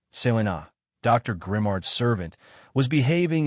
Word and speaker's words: Selina: They took shape, became specific, and it became notorious that Selina, pronounced Selena, Dr.